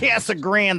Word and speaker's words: Casa Grande: That's how it's pronounced. Casa Grande, the Black Mist of Casa Grande.